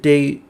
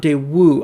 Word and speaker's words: Daewoo: It's interesting how he pronounces it deu, not deu. I've always heard it with the W pronounced um more strongly than that.